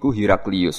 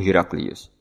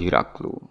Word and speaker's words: Heraclius: Presiden di wilayah Palestina yang dikuasai Romawi adalah Heraclius. Para siswa sekolah berasrama membacanya sebagai "Heraklu."